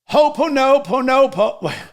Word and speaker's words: Ho'oponopono: And the thing that he shared was a forgiveness prayer called Ho'oponopono. Ho'oponopono. It's a Hawaiian forgiveness. Sorry, I had to actually look how to pronounce this.